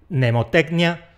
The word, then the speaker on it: mnemotecnia: Más secuencias iniciales que se simplifican: [terodáktilo, nemotéknia, nómo]. El pterodáctilo es un reptil fósil que probablemente volaba. Una mnemotecnia es un truco para acordarse de algo y un gnomo… un gnomo es un geniecillo así… pequeñajo. A estas palabras les pasa lo mismo que a “psicología”. La primera consonante nos la merendamos.